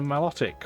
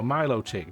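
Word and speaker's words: Meloetta: a rose raid and a melodic or Milo tick depending how you want to pronounce that we didn't see either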